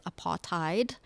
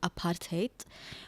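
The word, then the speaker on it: apartheid: uh regime called what people know today as aparttheide but the correct pronunciation is actually aparate meaning it's an Africans word which kind of means apartness being apart the state of being apart.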